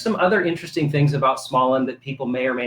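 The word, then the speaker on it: Småland: it first of all tell us how to pronounce the name because it looks like it is swedish yes smallin okay actually uh is a region of sweden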